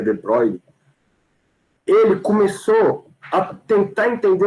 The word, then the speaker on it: de Broglie: Em 1924, mais ou menos, um maluco chamado de Broglie, ou de Broglie, acho que a pronúncia certa em francês é de Broglie, ele começou a tentar